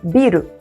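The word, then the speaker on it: ビル: Tomem cuidado que tem dois biro no japonês. Biru com prolongamento, que é cerveja, e biru sem prolongamento, que é prédio.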